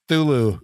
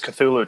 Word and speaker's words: Cthulhu: think they mispronounce it how do you pronounce the name did they say he said zulu yeah yeah uh it's always cthulhu to me i mean i'll pronounce